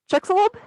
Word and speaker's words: Chicxulub: I'm going to butcher this. Chicxulub, I think is how it's pronounced.